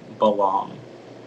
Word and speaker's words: ballam: um are there pronunciations it's just the one belong okay not the part of